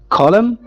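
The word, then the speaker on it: column: Letter N कहाँ पे silent होता है, इसकी एग्जांपल यहाँ पर हमारे पास लिखी हुई है, कॉलम। कॉलम के अंदर जो लास्ट लेटर एन है ये साइलेंट है।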